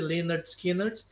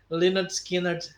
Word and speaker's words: Lynyrd Skynyrd: musical no Salton rock um álbum que já explica no título como você deve pronunciar o nome da banda porque o álbum se chama pronounced Leonard skiner né Leonard skiner a banda americana formada